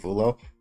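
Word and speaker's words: Vullo: It's called an NRA versus Viv Vulo or or Vuyo. I don't know how to pronounce the last name. I'm pretty sure it's Vuyo.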